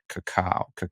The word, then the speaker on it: cacao: It's a washed processed bourbon with green apple, lime, and cacao. That sounds How do you say amazing. cocoa? Cacao, like cocoa.